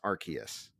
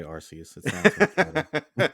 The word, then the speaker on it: Arceus: old pokedexes are totally believed it's pronounced arceus there you go i'm still going to say rcs and you know what honestly considering how many people have done it before and especially through official pokemon channels i ain't mad at you if you want to still do rcs but they're wanting people to say arceus like that's the official cannon so just so you